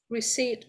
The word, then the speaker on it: receipt: Receipt, beautiful. Letter P is totally silent.